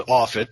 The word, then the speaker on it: Offut: you all correctly pronounce my name is off it that gets butchered all over the place yeah I'm I